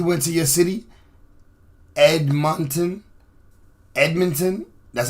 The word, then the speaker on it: Edmonton: shooting back he went to your city Edmonton Edmonton that's how you say it believed both shootings